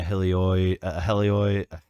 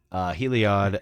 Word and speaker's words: Heliod: Is that how you say it? Heliod. I would say Heliod, but I don't know. Heliod. Yeah. It's Heliod. You're right. I can't English right now. Heliod.